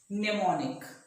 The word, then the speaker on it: mnemonic: can give you one example mnemonic it m is silent mnemonic means something that